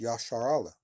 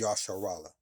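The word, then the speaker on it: ישראל: Uh Israel in the Hebrew is pronounced Yashar Allah. All right. Or is Yashar Allah all right?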